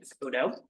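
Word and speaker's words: ODOE: Oregon Department of energy also known as Odo o o pronounce that Odo um the agency produces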